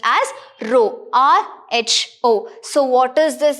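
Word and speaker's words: ρ: This is the symbol in order to represent the density, which is pronounced as rho, R-H-O.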